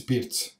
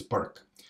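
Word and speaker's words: Pirc: I mean, the name of the guy is Pirt's, but if you are English speaking, then you pronounce this Perk.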